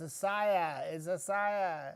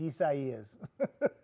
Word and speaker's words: Isaias: Isaias has like more syllables than it does letters. Isaias, and everybody kept saying, it's Isaiah, Isaiah. Nope, it's Isaias. Isaias.